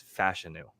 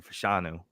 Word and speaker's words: Fashanu: now there I think Ola fanu or sorry fashanu apparently is how you say it I was just aware of It's Fashion I've been saying fashanu and I've heard everybody say fashanu for so long apparently it's fashion now um he's way